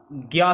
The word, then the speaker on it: ज्ञ: हुआ संयुक्त अक्षर है, परंतु आजकल हिंदी भाषा में इसका उच्चारण ज्ञा से किया जाता है। यानी कैसे? आधा गा और या ज्ञा से किया जाता है, ये आपको ध्यान में रखना है, ठीक है।